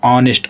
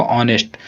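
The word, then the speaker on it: honest: तो हमारा ऑनेस्ट। ऑनेस्ट में क्या है? एच का साइलेंट मोड पर रहेगा ऑनेस्ट। तो एच काम साउंड नहीं निकालेंगे। तो हमारे प्रश्न का सही जवाब क्या हो जाएगा?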